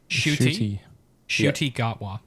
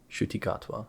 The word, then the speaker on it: Ncuti Gatwa: Ncuti Gatwa. Ncuti Gatwa.